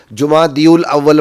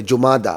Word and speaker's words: جمادی الاولی: توجہ دلانا چاہتا ہوں۔ ہمارے بہت اہل علم بھی جمادی الاول پڑھتے ہیں اور عجیب قسم کا اس کا تلفظ کرتے ہیں۔ بھائی یہ اسم مخصور ہے، جمادہ، موسیٰ کی طرح، چونکہ مؤنث ہے لہذا اول بھی نہیں ہوگا، جمادی الاول بھی نہیں ہوگا، یہ جمادہ ہوگا اور اس کی صفت